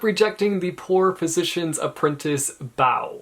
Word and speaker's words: Bao: the poor physician's apprentice, Bao. I think that's how you say his name. It's B-A-O.